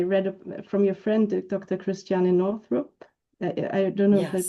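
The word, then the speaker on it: Christiane Northrup: Cristiana Northrup. I don't know if I pronounced it right.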